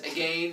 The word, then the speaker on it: again: Why is it we have to pronounce that as again as opposed to lane? No, as opposed to again, because that's so confusing. Shorty. Because it rhymes with lane.